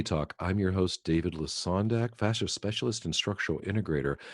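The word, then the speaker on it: Lesondak: You know, I just heard for the first time just now that your name is pronounced Lasondak. I've been calling you Lazondak this whole time.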